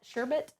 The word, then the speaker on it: sherbet: sherbet now broke sherbet sherbet it's spelled the way that people say sherbet even though there's no R there um sherbet I'm going